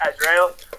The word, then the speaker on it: Adriel: call me um it's pronounced Adriel um it's kind of hard say but um yeah